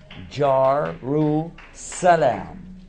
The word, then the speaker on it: Jerusalem: Etymology of the word, Jar-ru-salam. Later, they pronounced this word salam as shalom, but originally, even the Jewish pronounced it salam, Jar-ru-salam.